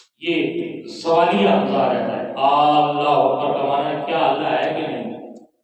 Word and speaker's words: اکبر: وہ یوں کرتے ہیں اکبر کو اکبار پڑھتے ہیں، نعوذ باللہ۔ اکبار کا معنی ہوتا ہے ڈھول، بالکل معنی ہی تو تبدیل ہو جاتا ہے، اس لیے یہ تلفظ کا سیکھنا بھی ضروری ہے۔ لفظ کیا ہے؟ اللہ اکبر، بول کیا ہے؟ اللہ اکبر، اللہ اکبر، اللہ اکبر، نہ اللہ اکبر ہے، نہ اکبر ہے، نہ اکبار ہے، صحیح بات کیا ہے؟